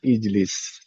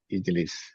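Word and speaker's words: اجلس: Yang contoh harakat huruf ketiganya kasrah misalkan ijlis ya, ijlis.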